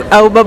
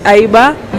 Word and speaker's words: AIBA: The AIBA, I was about to pronounce it as AUBA, but I was told it's AIBA.